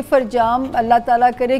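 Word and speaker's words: فرجام: जी उसका नाम फरजाम है, वैसे डॉक्यूमेंट्स में मोहम्मद फरजाम है, बट हम प्रोनाउंस फरजाम ही करते हैं।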